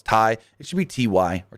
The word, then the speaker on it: Tay: throws me off that her name is spelled ta y t cuz my dyslexic brain reads it as Tay so I say Tay even though I know it's Tai it should be Ty